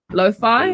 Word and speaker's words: lo-fi: how to pronounce it what would you say lo-fi i think it's like because there's like hi-fi and then like a low fidelity is what it is okay i get it